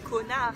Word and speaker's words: connard: But there's an insult that we have, which is connard, and some people who have trouble with pronunciation might make.